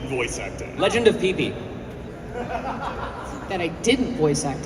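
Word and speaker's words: Pipi: It's spelled P-I-P-I, Legend of Pee-Pee.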